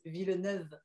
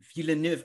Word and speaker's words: Villeneuve: get the first name right last name is villeneuve villeneuve okay well i swear the guys in the